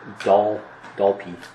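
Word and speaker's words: Dalpe: Paul says it's Dalpy.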